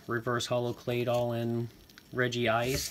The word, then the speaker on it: Regice: getting a little reverse holo clay doll in Reggie ice not regice as I have never heard it pronounced that way with word and I don't